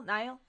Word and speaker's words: Niall: Neil? Niall?